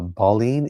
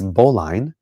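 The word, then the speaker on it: Bauline: Uh, Baline is boline.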